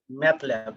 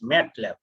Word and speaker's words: MATLAB: some of us uh pronounce it and in a wrong way somebody says math lab this is not actually matlab it is matlab this map is stands